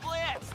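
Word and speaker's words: Blitzø: My name's Blitzo, the O is silent.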